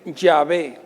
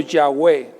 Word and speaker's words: Yahweh: Pero los estudiosos dicen que el original nombre de Dios es más parecido a decir Yahvé o Yahweh. Ese es el más parecido del original del nombre de Dios.